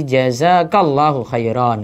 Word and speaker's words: jazakallahu khairan: Tapi kalau pada laki-laki jazakallahu khairan. Beda ya. Maka ada penyesuaian kata ganti. Ka dan ki. Ka itu menunjukkan laki-laki. Ki yang dengan kasrah menunjukkan perempuan.